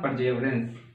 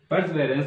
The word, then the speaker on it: Perseverance: अभी भेजा है वर्तमान में, उसका क्या नाम है, परजेवरेंस। परजेवरेंस, ठीक है, परजेवरेंस। परसेवरेंस होता है इसका वैसे प्रोनाउंसिएशन, लेकिन हम तो परजेवरेंस ही बोलेंगे, ठीक है।